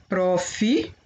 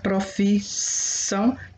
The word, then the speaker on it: profissão: Toda vez que você for pronunciar profissão, já sabe que é dois S, porque se eu colocar um, fica provisão, né? Porque o S, um S entre duas vogais fica com som de Z.